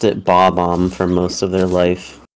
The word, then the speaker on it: Bob-omb: There is an epidemic of people who read it and pronounced it as Bomb-omb for most of their life.